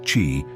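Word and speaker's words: qi: the body improve energy flow often called Kei pronounced chi in Chinese medicine and ultimately ease conditions like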